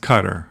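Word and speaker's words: Qatar: welcome Ali you know I think it's pronounced cutter right I think that's the uh that's the appropriate pronunciation if it's not please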